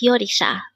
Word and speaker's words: 요리사: here at day hangle word number 337 yisa this pronounce is a three syllable word the first